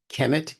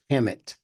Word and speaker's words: Kemet: for Egypt in Africa Kemet k m t that's why you'll also find that there are people who can pronounce it as Hemet k h m t and then there are other people in other parts of the region that will pronounce it as Hemet see h m t but the sound the cound and the high sound are all gunal and therefore they can be interchanged in Arabic we say Salam